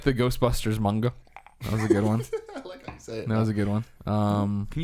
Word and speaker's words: manga: up front a little manga my manga it's manga this is are you at it I know